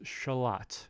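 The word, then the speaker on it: Xolotl: going to happen so I prepared this is shalot is how you say it let me mute the music for a second and bring up pronunciation on Google shalot shalot shalot let it's like a not like Lut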